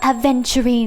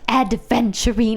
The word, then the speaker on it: Aventurine: It's Aventurine, not Adventurine.